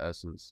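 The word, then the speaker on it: Ssense: s-s-e-n-s-e yeah we pronounce and I believe they pronounce the essence just well they're gonna um we were talking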